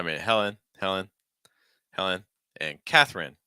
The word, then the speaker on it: Katherine: Helen Helen Helen and Katherine notice that that e is just not even gonna be pronounced typically just completely reduced Katherine Katherine okay Hungary